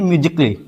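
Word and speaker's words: musically: इसको पढ़ेंगे म्यूजिकली। इसको पढ़ेंगे म्यूजिकली। यहां पे क्या होगा? ए साइलेंट होगा।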